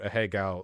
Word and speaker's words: Ahegao: I have to assume that I've, in my lifetime, probably heard more people say the word Ahegao than Ethan Klein has. I've said a Japanese person here, Higo. you're pronouncing it fine.